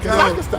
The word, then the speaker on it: Kazakhstan: Yo, he put an extra A in it. Kazakhstan.